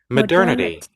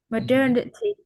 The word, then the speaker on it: modernity: the adjective of it I understand that we pronounce it at modern right? Okay but this one is modernity. Okay modernity once again modernity. Yes, modernity. So, I remember struggling to pronounce this word a few years ago and I didn't expect the native to be pronounced so differently from it adjective.